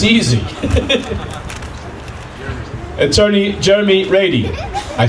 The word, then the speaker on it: Reidy: his name correctly because it doesn't sound like it's spelled but it's easy attorney Jeremy Brady I said it right